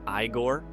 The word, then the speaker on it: Igor: His portrayal of Igor, or Igore as he insists, became one of the most beloved characters in comedy history.